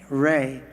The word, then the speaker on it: Rea: when but g-r-a-m and my last name is r-e-a ray and i've got a